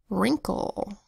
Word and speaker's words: wrinkle: Next word is 2 syllables, wrinkle. Spelled with the WR that says R, I that says I, N that says M, K that says K, L that says O, and a silent final E.